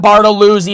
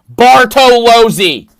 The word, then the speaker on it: Bartolozzi: not part of easy it's not bartolousy it's not bartolucci not bartolazzi bartolozi that's it you could literally just sound it out there's no silent letters in the name you can just say it and get it right draw joe varda